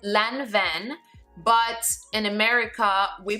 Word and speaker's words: Lanvin: brand-new current season bags the brand called and pronounced Lanvin but in America we pronounce it la one it's a Parisian brand it's one of the